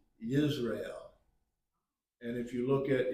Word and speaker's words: Jezreel: His first child was a boy, and his name is, we would read it Jezreel, but it's really pronounced Yisrael.